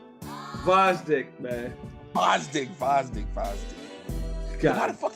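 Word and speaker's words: Gvozdyk: Like, to me right now, you got Kovalev, Bitter Beef, Godsdick, Vosdick, man. Vosdick. Why the fuck he got it? Is a G in there? Yeah, man, the G is silent, just like Sanford and Son, bruh.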